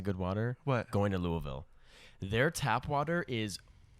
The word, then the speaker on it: Louisville: are produced in in louisville kentucky but you got to say louisville you can't say it you got to say it louisville it's basically two syllables but one's kind of hidden in there you know they they